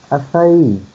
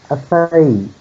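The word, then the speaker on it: açaí: And yes, I've definitely heard Americans pronounce this acai. I mean, with the letters, that pronunciation would make sense in English, but it's acai. Acai.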